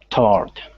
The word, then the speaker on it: toward: So, toward, we kind of have, we don't really pronounce all of the syllable there. It's really just one syllable, toward. Instead of forward, we have two.